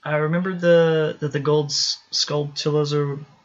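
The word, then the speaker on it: Skulltula: I remember that the gold sculptulas, or how do you say that? Sculptula. Yeah, sculptulas were a thing. Like tarantula.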